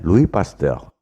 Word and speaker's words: Louis Pasteur: Kalau bahasa Prancis, ucapan dan tulisannya memang beda. Bombardier, bacanya Bombardier. Louis Pasteur, bacanya Louis Pasteur.